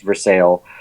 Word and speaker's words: Versailles: But there's also a great Cuban restaurant called Versailles there that it's spelled Versailles, but it's pronounced Versailles.